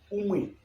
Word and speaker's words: umwe: Et maintenant, on peut dire aussi la prononciation umwe, ok? Qui s'écrit de cette façon. U-M-W-E. Umwe, ok?